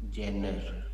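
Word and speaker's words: genre: उसमें एक ऑप्शन होता है जेनर. The option name is जेनर. The spelling is wrong.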